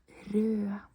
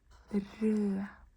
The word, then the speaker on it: rød: Rød. Rød. You don't pronounce the D.